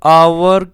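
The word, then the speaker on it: hour: तो देखिए यहाँ पर एन आवर, तो यहाँ पर आवर में जो एच है ये साइलेंट है, तो आवर, आवर का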